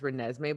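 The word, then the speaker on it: Renesmee: it's jacob i well everyone keeps saying jacob pronounced me but the last time she had said it was it was just renesme but i think people are assuming that it's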